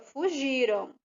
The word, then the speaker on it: fugiram: o a m porque essa palavra ela se pronuncia fugiram porque já aconteceu ok vamos ler de novo